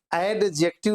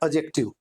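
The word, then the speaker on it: adjective: कभी भी यहाँ पे डी का प्रोनाउंसिएशन नहीं किया जाता, यानी कि एडजेक्टिव नहीं बोला जाता, इसको बोला जाता है एडजेक्टिव।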